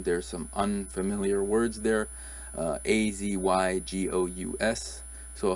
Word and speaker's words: azygous: on the screen there's some unfamiliar words there a Z ygo us so how would you pronounce this is it as IGAs azygous ziggies